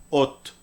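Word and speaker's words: אות: Esto se pronuncia Ot, Ot, eso es consonante en hebreo moderno, Ot.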